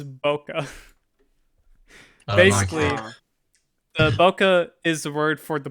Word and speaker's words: bokeh: a weird word yeah it's bokeh basically the bokeh is the word for the background blur like